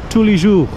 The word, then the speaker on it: Tous les Jours: Yeah, again, how do you pronounce it? It's Tous les Jours.